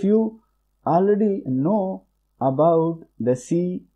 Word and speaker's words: C#: It is pronounced as a C#.